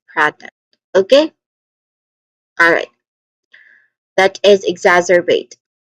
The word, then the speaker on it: exacerbate: That is exacerbate. Pronunciation wise, we start with egg. So instead of X, we say egg. Okay, with the letter G. Then zar. It has short vowel sound, short a vowel sound.